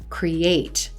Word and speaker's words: create: When you have a 2-syllable verb that ends in ate, you're going to stress the second syllable. Create, relate, debate, inflate.